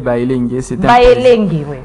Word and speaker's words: Baelenge: Vous avez toujours du mal à, cette fois-ci, j'ai bien prononcer. C'est Bayelenge.